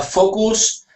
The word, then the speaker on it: focus: uh B and now this word is pronounced focus focus FOC try that Focus okay and that U is more of an uh sound focus focus could you